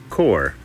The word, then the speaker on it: corps: is a core now core is spelled c-o-r-p-s uh-huh yeah that comes from french where a lot of letters aren't pronounced core uh akora is a